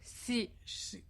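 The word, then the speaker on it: 四: Yeah, because 4 you can pronounce like si. Si means death.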